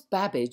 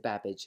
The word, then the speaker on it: Babbage: A polymath is what they call it, as well as having a name that rhymes with cabbage. My old teacher, Mary Somerville, was a friend of Mr. Babbage, and so I wangled